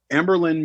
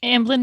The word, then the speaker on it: Amblin: with Don Bluths like animation studio or whatever amberlynn motion I mean blend animation wouldn't have been a thing with Steven Spielberg which after amberlynn nation no how are you pronounce its Amblin mission emblem nation thank you we probably wouldn't